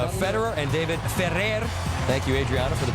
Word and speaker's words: Ferrer: It's Federer and David Ferrer. Thank you, Adriana, for the pronunciation.